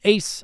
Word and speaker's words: Ace: which is called ultraman ace oh another tokusatsu show uh-huh it's styled as just the letter a but the that kind of trend in japan to use ace rather than simply pronouncing the letter in like the decade